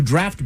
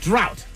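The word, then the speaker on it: draught: English to refer to draft beer. Uh drought. Very good. Drought. D R A U G Ht. Why is that hard to say? Drought. Actually, no, it's draft. Draft.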